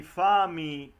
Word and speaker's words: fammi: The double letter, for example, I just pronounce the very end of the aria, spezzami il cor, fammi morir, and she cross out the double. She say fammi, spezzami, and is the pronunciation of the Italian word.